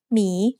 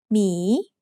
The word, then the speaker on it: หมี: So it has to team up with a silent หอหีบ to get the job done. Let's write หมี together.